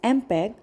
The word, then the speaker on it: MPEG: Students know the fact that MPEG, pronounced as MPEG, stands for Moving Picture Experts Group.